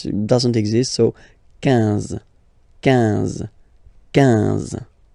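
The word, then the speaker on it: quinze: U doesn't exist, so 15. 15. 15. Alright, IN, nasal, so it's 1. 1. 15. 15.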